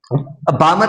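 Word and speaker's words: Balmer: मतलब क्या होगा कि बाल्मर सीरीज में, बामर सीरीज में एल साइलेंट रहेगी।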